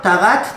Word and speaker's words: Tarat: Et à la fin, hein, Tarat, Tarat, Tarat. En prononciation ashkénaze, ça donne Taras, Taras, Taras.